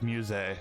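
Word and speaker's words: Musse: you in total uh so it's musee that's how you pronounce the other person in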